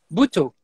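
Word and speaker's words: Butoh: And I don't know how to say it, but the movement, is that Buto? How do I? Buto, yes.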